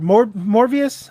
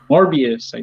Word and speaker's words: Morbius: got what how do you say it albert more more vious i always get it wrong morbius morbius morbius morbius uh i still remember him